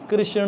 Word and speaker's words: कृष्ण: और कृष्ण, और R के नीचे डॉट रहेगा तो रु, जो हम लोग रु कहते हैं ना तो कृष्ण।